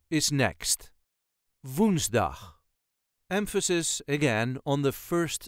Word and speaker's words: woensdag: op dinsdag My meeting is on tuesday dinsdag woensdag is Next woensdag emphasis on the syllable woensdag woensdag Ik heb op woensdag een